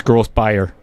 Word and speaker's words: Grosbier: So it's Grosbier.